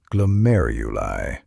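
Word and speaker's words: glomeruli: That's pronounced glomeuli.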